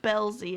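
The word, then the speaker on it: Belsey: one Wow oh and I said her last name wrong I'm sorry Pam Beesly got me thinking that yes I miss Beasley it's Belle Z is her last name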